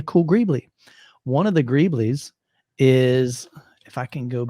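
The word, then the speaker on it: greebles: And he's like, oh, that'd be a cool Grably. How do you pronounce that? Let me know in the chat. I'm looking over here. Oh, Greeblies.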